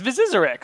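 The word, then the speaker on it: Byzyzyrx: zizer yeah yes dazzled no it's viarx that's that's an easy enough to pronounce name I got a cousin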